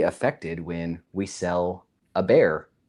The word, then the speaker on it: Bexar: had on the list is how do you pronounce the bear? So because I was able to by looking at it in the Midwest, it's the Bexar, but I was like, as an official Texan, I bet the real pronunciation.